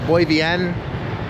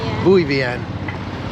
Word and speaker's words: Bui Vien: So if you want to go partying, Buen is actually closer to how it should be pronounced. Buy Vienn.